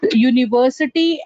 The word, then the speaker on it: university: So U is nothing but a sound that is amalgamation of Y plus U becomes your U. So my first word comes out to be Y, year sound. That's the reason university and unique is always consonants but not vowel sound.